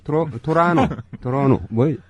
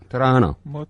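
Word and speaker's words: Toronto: 그러면은 이렇게 토론토 대학 갔다 오신 분들이 의외로 많아. 토론토 대학. 토로노 아니야? 토라노. 발음을 어떻게 하나요? 토라노. 토론토라고 우리나라 사람들하고 거기서는 아까 말씀하신 대로 그렇게 비슷하게 하고 오타와도 우리는 오타와라 그러는데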